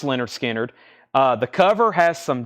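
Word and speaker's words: Lynyrd Skynyrd: gets Rush next is Leonard skinnard pronounced Leonard skinnard uh the cover has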